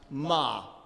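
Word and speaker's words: מה: The Hebrew for the word what is pronounced ma.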